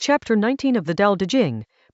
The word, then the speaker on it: Dao De Jing: Chapter Nineteen of the Dao De Jing — pronounced "Dow Duh Jing" — sets out to dismantle three things every civilization considers foundational: wisdom, benevolence, and skill.